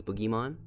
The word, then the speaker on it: Boogiemon: look at boogie yeah it's boogiemon like oogie boogie or the boogie monster level four vanilla digimon